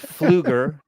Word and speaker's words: Pfluger: I believe the P is silent. August Pfluger, Troy Nels, Brian Mast, Randy Weber, Marionette Miller Meeks.